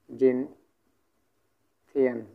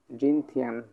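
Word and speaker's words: 今天: প্রথমত এই টোনটা সম্পূর্ণ কিন্তু একটা ফার্স্ট টোনের ব্যবহার চলতেছে।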